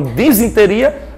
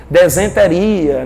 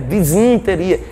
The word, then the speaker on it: disenteria: De uma disenteria até um abscesso. Então, gente, lembrar que nesse grupo estão as amebas patogênicas causadoras de disenteria, eu sempre errava na pronúncia, desenteria, né? Disenteria, é disen, D-I-S-E, disenteria e abscessos amebianos, ó.